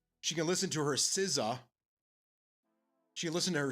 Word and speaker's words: SZA: and it spelled Sza Siza. So I'm being I asked her if like oh is is she a new member of the Wuang? Huh? What? It's spelled like Rizza but it's Siza.